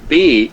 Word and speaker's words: B: So bay, B is called bay. B has the name bay in German. Okay. This bay is the same as English, gives the same pronunciation as English B, but is called bay. C, the English C has